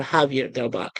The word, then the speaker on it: Xavier del Bac: It is actually known as the oldest church in the United States, San mm, Xavier del Bac. or Javier del Bac, if you want to pronounce it by the Spanish way.